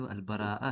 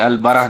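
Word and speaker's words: al-Bara'a: एक सेकंड है, बस एक करेक्शन, जो वर्ड अल बरा नहीं, अल बराआ है, बराआ। अल बराआ, ओके, जज़ाकल्लाह खैर, ठीक है। प्रोनाउंसिएशन मिस्टेक हो गई हमसे, वो अल बराआ है, ठीक है, अल बराह नहीं है।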